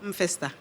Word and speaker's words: M'Festa: Mfesta.